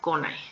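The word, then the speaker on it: 来ない: el caso de venir aquí sí hay un cambio de pronunciación venir o llegar es el verbo curu Aquí vamos a cambiar la pronunciación q a co ya no va a ser ni q ni I sino es co con a entonces aquí sí Les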